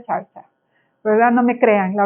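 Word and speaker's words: xarxa: Yo no sabía pronunciarlo, tengo una amiga que habla catalán y dice que se pronuncia charcha.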